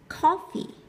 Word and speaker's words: coffee: Coffee, coffee, chưa? Trọng âm sẽ rơi vào tiết đầu tiên, nó đọc mạnh cao hơn một chút.